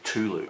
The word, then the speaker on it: Cthulhu: say cthulu right but in the Lovecraft call cthulu short story he actually describes it as sounding a bit like someone sneezing so I think technically the more correct way to say is culu as some people call it but I way